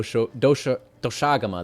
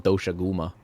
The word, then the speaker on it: Doshaguma: Oh, do doshagama. That's how you pronounce it. I always want to call it doshaguma, but I guess it's technically pronounced doshagama.